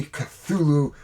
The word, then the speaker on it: Cthulhu: Today we are going to be looking at Reign of Cthulhu, or if you are a Cthulhu person, you would actually say How did H.P. Lovecraft pronounce this word?